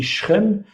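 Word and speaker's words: שכם: on dit six chaînes mais en hébreu on dit shrem donc qui est une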